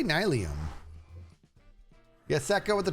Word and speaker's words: nylium: Do you pronounce it ni or nylium? I say nylium.